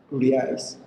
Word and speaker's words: reais: me pronounce the reais like Portuguese people.